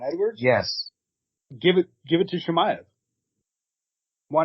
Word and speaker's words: Chimaev: Chimaev.